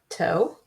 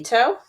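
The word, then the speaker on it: tau: to t of uh toe. And you might call that toe. Uh, according to the internet, it's pronounced toe. I'm not Greek, so I I'll go with toe, but I'm still getting used to it.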